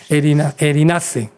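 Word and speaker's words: erinacei: Eh eh sí, es como eh como el erizo, eh, pero no se pronuncia la al final. Erinace se dice así.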